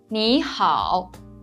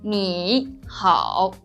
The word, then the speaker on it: 你好: When one third tone comes before another third tone, the first tone is pronounced as a rising tone, which is the second tone. For example, 你好, which means hello.